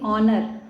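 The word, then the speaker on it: honour: जाएगा option number B क्योंकि जब किसी शब्द का उच्चारण वावेल से स्टार्ट होता है तो वहां पर एन का प्रयोग किया जाता है यहां पर कोई वल तो नहीं है लेकिन जब हम इसको पढ़ेंगे ऑनर आ आ रहा है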